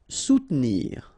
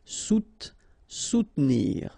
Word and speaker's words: soutenir: Soutenir. Okay, so sous first, and then don't insist on this here. Soutenir, soutenir.